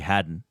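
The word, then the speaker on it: Haddon: it scored 42 points Hayden Williams or maybe it's Haden Williams h a d d o n probably Haden Haden Williams had 553 passing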